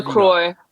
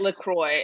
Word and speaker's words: LaCroix: very good what flavour Kroy our patient peach Pierre all right let's save this debate this is nice to say it correctly you're supposed to say it Lacroix and I looked it